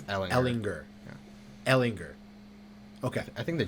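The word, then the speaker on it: Ehlinger: Ellinger. Okay. I think the G. Yeah. Yeah. Ellinger. I think the G is silent.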